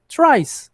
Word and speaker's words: tries: Não, gente, é só dizer tries, como se eu só colocasse uma letra S.